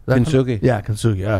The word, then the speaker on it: Kintsugi: Is it Kintsugi? Kintsugi.